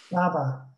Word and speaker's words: Baba: Like, how do you pronounce the character who's in the cafe, whose name is spelled B-A-B-A? Baba.